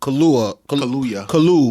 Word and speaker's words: Kaluuya: That stars Daniel Kaluuya. Damn, nigga. Kaluuya.